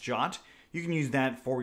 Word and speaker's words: JWT: the Django REST Framework JOT, or JWT. It's pronounced JOT.